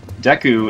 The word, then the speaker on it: Deku: Now, interestingly enough, pronouncing it Deku is not very far from how I believe they would pronounce it in Japanese, which would be Dek.